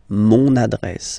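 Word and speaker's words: mon adresse: address my address address mon address okay you can hear now this little link so you've got to pronounce this n mon address address okay and the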